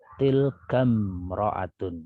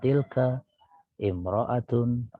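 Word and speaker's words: تلك امرأة: Tilkam ro'atun, gitu, ya, bukan tilka imro'atun azimatun, tapi tilkam ro'atun azimatun, ya.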